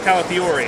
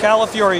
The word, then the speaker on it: Calafiore: Jim Calafiore? Okay, so it's Calafiore. Okay. Right. I always wondered about that. Calafiore. You say it like California, but you get angry at the end. Fury.